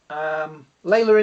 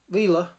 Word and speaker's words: Leela: Layla in there. Leela, how you say it.